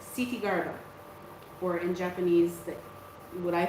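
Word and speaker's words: Kṣitigarbha: It's Sitigarba, or in Japanese, what I find easier to pronounce is Jizo.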